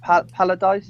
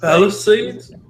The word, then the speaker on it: Palisades: I mean sadly, I can never pronounce. Is it Paladise? Is it Palisades? Palisades.